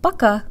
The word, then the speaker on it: пока: to pronounce the word paKA, or by. When we first start studying Russian, our paKA sounds like paKA, but we can make it sound Russian by resetting our default mouth position.